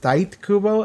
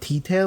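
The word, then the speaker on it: Tite Kubo: fact I learned that his name is pronounced tight Kubo and not Tita like I thought it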